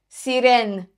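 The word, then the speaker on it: Sirène: There's an accent on the second E. Actually, the first E in the word. Sirene.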